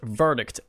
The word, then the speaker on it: verdict: The word verdict at the end. I missed the the sound of the T because I I didn't realize it at the time.